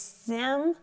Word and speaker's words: simile: think of a smile, but it's sim-i-li. Now that's not how we normally pronounce this word, smile, if we broke it down. That's not right though. That's not how we say it in our language.